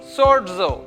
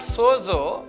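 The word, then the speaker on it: σῴζω: Zeta is pronounced like DZ. For example, sodzo. This is not sozo, but sodzo. DZ you have to pronounce like sodzo.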